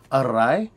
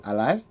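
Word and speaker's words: อะไร: alai, but actually it's when you see it in Thai books, it's arai with an R. But the thing is, though, is that because rai, the R is the first letter of that second syllable, and they have problems with that sometimes, they'll just replace that with an L. So you'll hear a lot of people saying alai, and unlike the Japanese,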